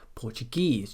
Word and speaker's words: Portuguese: Some suffixes are always stressed as the final syllable in a word.